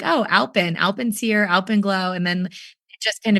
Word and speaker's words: alpenglow: And one of the locals here was like, oh, that's Alpyn Glow. That's called Alpyn Glow, and it's spelled ALPENGLOW.